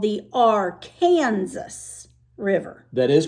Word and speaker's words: Arkansas: There's a river that when it's in Arkansas, you say it like that, the Arkansas River.